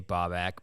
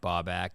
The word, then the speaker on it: Baubak: obviously it's my name I think it's easy to say babak babak bike back like it's spelled ba back if you sound it out actually a lot of